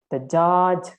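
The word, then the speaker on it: tajā: So you see how I pronounce it taja, because it's very difficult to pronounce it as like taja without a vowel sound in the middle of T and J. It can be easily pronounced only if there is a vowel sound in the middle. Otherwise, it's very difficult. So that is the way how Myanmar monks read them.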